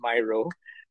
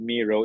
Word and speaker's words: Miro: that uh Miro uh I used to think it was pronounced Myro uh it was in this pronounced it's called Miro it's one of the